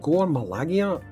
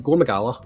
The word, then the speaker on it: Gore Magala: Is it Gore Malagia? Magala, right? Gore Magala, right?